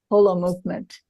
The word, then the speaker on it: Holomovement: I want everybody to remember it that way pronounce it correctly and you say whole Hol movement H movement as in whole and indeed you're